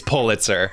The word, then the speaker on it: Pulitzer: the pulitzer prize winner pulitzer prize winner excuse me said it wrong it's pulitzer 100 i've yeah anyway um